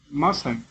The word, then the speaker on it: mustn't: Yes, letter T is silent.